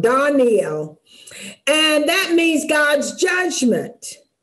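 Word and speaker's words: דניאל: The first one is Daniel, and Danny actually is pronounced Daniel, because the A has a dark sound, Daniel, and that means God's judgment. And we know we call him Daniel, but his name has L in it.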